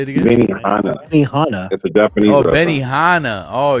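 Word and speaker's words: Benihana: hogin how you say it again Benny Han Benny Hana a Japanese Benny Hana oh you said yeah that's internationally known internationally known to rock the microphone microphone you know uh who Benny hanah's son is no who's that you don't know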